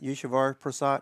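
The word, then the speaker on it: Eswar Prasad: Yeshavar Prasad.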